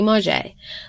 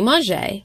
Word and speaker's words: Mauger: Diaries, Unedited and Grammatically Incorrect by Mauger. Last name is spelled capital M-A-U, G as in great, E